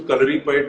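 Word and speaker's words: Kalaripayattu: so calorie pad, Hrithik, I'm so proud of the fact that you said the name correctly because in India I Thank don't you. see many people saying it right.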